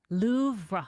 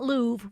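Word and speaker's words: Louvre: Loura. So the French it's so it's a delicate R at the end of it. It's not Louv. We always say Louv, but it's Loura, but I don't speak French.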